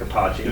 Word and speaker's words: Capaci: And if you were in Italy, you would be Eric Capaci. That's exactly right. If you're in Italy, then you would pronounce it Capaci.